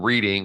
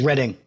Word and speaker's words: Reading: warmwood Scrubs prison reading I'm sorry it's reading it looks like reading but it's reading oh is it yeah well they shouldn't spell it that way no they shouldn't that's